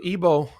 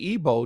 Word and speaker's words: Igbo: that please so the ebo um and it's it's often spelled with the G sometimes it's not with the IBO but it's pronounced ebo they they are a